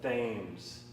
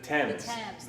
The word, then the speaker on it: Thames: going to want the themes definitely not unless you learn how to pronounce it the tame the TS the t t they're